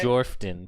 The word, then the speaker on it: Jorphdan: I, Jorphdan, put 5 gold in the collection plate. Listen, the PH is silent. I don't know how many times I have to tell people that every video I say.